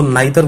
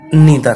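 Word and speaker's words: neither: C would get नीदर, कहीं इसका नीदर है और कहीं इसको नाइदर बोल देते हैं, लेकिन इसका सही प्रोनाउंसिएशन नीदर है।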